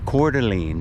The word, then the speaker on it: Coeur d'Alene: to learn how to spell that let alone pronounce it coeur d'alene c-o-e-u-r and then a space and then a